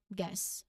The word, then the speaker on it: guess: In this case, the U is silent and it's pronounced as guess, not Guess. No, we didn't say that. It's just guess, everyone. It's just guess. One syllable only.